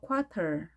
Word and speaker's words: quarter: a quarter 트 발음 아래 영향을 받아서 R 발음합니다.